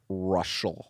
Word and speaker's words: Reuschal: re e u s c h a l russal russal yeah yeah I'm the only one in